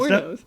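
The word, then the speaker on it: Wuornos: Okay, can I spell it, or are you going to keep going? W-U... Warren? Okay. It's Warnos.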